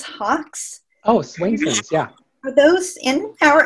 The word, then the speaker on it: Swainson's: Let me just see if we've, there's one here about, I don't know if I'm pronouncing this correctly, Swainson's hawks. Oh, Swainson's, yeah.